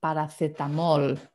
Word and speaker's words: paracetamol: The words, like paracetamol basically is spelled the same, okay? It's just slightly different pronunciation. We say paracetamol, but that's it.